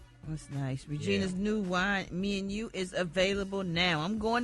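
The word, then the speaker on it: Mianu: It's called Me and You, and it's spelled M I A N U.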